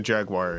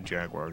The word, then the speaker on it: Jaguar: In England, I do think it is the Jaguar. UFO detected. Wave complete. Ah. Game over. Oh my god. Well, let's try again. Get ready. Just the console, though. To pronounce the cat's name in typical American English. So you're treating the Atari and Jaguar like the car company. So I believe you're supposed to say Jaguar, even if you're in the U.S.